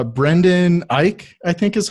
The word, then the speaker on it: Eich: Yeah, and just to cover what we're So it's Brendan Eich, I think is how you pronounce it, or EICH?